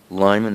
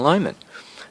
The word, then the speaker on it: Lyman: Colley is spelled K with a double A, L-I. Lyman is L-Y-M-A-N.